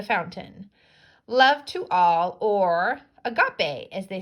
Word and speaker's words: agape: Love to all, or agape, as they say here. It's pronounced like this.